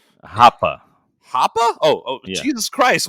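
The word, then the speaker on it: Rappa: I'm saying RAPA, right? say it again. I say Rapa like a total honky. How do you say it? Hapa.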